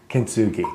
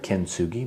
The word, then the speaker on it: Kintsugi: Kintsugi.